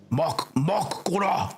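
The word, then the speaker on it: Mak'gora: Mokgora. That's it. You got to say it like an orc.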